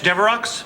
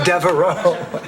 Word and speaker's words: Devereaux: Flowers for Blanche Deveroux? Oh, no, that's Devereaux. It's only pronounced Deveroux in limericks.